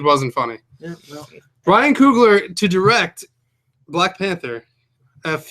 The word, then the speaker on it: Coogler: Coogler? Ryan Coogler. How do you Coogler. pronounce that phonetically? How do you say it? Ryan Coogler. Okay. Like wine That's cooler. what I with said. Google.